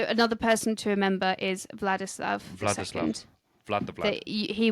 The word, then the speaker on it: Vladislav: So it's Vladislav. I said it wrong.